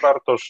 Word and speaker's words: Bartosz: the achievement of this important objective thank you bartosz he's a good morning everyone yes uh you pronounce my name quite correctly my name is bartosz i work in in digi center where